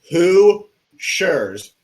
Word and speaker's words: Hoosiers: It's Hoosiers, and it's a silent H, or not H, but silent.